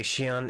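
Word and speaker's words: Xion: How come Roxas say Shion is like... Where have you been? Shion? Axel and I have been looking all over for you. The X is pronounced like Chi, like C-H-I.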